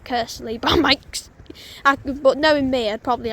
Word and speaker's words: Kearsley: And as those two trains go to their respective destinations, I shall catch you all when the next train comes here at Kearsley.